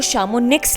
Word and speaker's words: Chamonix: के बीच बसा है इसकी स्पेलिंग को अगर आप गूगल कर सर्च करेंगे तो इंग्लिश में आपको शामोनिक्स लिखना पड़ेगा लेकिन फ़्रेंच में इसका उच्चारण शामोनी है ये शहर फ्रांस, स्विट्जरलैंड और इटली के बॉर्डर पर है पापा?